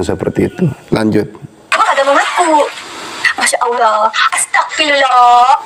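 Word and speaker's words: أستغفر الله: seperti itu lanjut Masyaallah Astagfirullah asagfirullah dalam pengucapannya bukan seperti itu tapi Masyaallah itu saya paham tentang Tajwid tentang makhij huruf dan sifatul huruf itu sekali lagi Astagfirullah bukan Astagfirullah tapi astagfirullah astagfirullah jadi Masyaallah Astagfirullah itu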